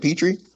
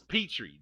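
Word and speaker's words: Pitre: Petri. Petri. Thank you. Thank you. is I knew I knew it wasn't Pinter. I didn't want I thought it was Petri, but I will say this is that um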